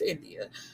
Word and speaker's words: Endiya: I hope I'm saying that right because her name is spelled Endiya. So I believe it's India.